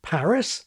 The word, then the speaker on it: Paris: This can give you Paris, like parish and Harris, Cuba, like cube, or San Pedro, like cathedral, or Einstein rather than Einstein, and on and on and on.